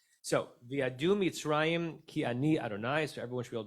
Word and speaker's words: Adonai: So it's pronounced Adonai from my Lord.